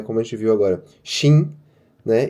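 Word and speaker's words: 시: Mas não é. Você vai ler como se fosse shi. Ah, por que é como se fosse shi? Não sei, pronúncia, galera. A galera fala assim, eles juram por Deus que estão falando si, mas quando vocês perceberem, vocês vão ver que é shi, tá bom? Então a pronúncia é shi, nesse caso.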